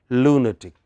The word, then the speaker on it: lunatic: By that rule, it should have been lunatic, but this is an exception. There are 1 or 2 exceptions. I will tell you more about them. So, this is pronounced as lunatic.